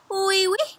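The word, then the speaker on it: oui: Wee wee is how you say yes, yes in French.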